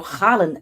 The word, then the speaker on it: Haaland: Or Haaland, as he pronounces his name for whatever reason, started to do.